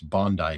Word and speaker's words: Bondi: Oh, and by the way, those who were yelling at me before, it's apparently it's Bondi Beach. Bondi Beach. Okay, whatever. I got yelled at for saying Bondi.